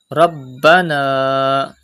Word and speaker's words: ربنا: Rabbana. Pronounce ba with emphasis because ba is a qalqala letter and this is mushaddad in this word.